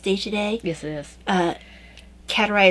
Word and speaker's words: Kateri: Kateri or Kateri, I'm not quite sure the pronunciation. Davina says it's Kateri, yep. So I'm going to believe her.